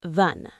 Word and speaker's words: than: In fast speech, than often sounds like thun.